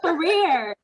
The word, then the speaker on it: Ferrier: So Ferrier, am I pronouncing that correctly? That's correct. That's is correct. it Ferrier or is it Ferrier? It's Ferrier.